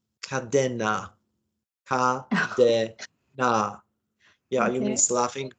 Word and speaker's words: Kadena: in honto Okinawa just so you know it's pronounced kadena Kad yeah you miss laughing because when we